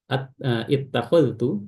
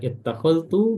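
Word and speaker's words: اتخذت: Baik, adapun berikutnya ini ada satu tambahan yaitu setiap lafaz ittakhadtu, ya, ittakhadtu, maka zal diidghamkan ke ta secara sempurna, ya, idgham kamil, ya, masuknya secara sempurna, ya.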